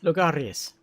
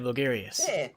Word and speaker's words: Logarius: ah is it german oh lagarius vagarius lugarius instead of logarius i i just want